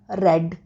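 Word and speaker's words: read: Third form of verb means रेड, रीड, रेड, रेड. तीनों एक ही spelling है, same, लेकिन साउंड में फ़र्क है. रीड फर्स्ट फॉर्म है, रेड सेकेंड और थर्ड भी रेड है.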